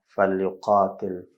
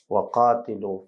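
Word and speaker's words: وقاتلوا: Nagkamali tayo mga kapatid sa ating pagbigkas. Kinakailangan na maulit natin at ang pinakatama mga kapatid ay waqatilu fi sabilillah.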